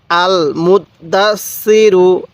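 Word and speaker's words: المدثر: মুখে মুখে বলবেন আল মুতদাস সিরু কিভাবে পড়বেন আল মুদ্দাসসিরু এরকম ভাবে শিখবেন এরপরে বলবেন এই হরফ গুলোর উচ্চারণ কিভাবে পড়তে হবে হ্যাঁ হামজা লাম জবর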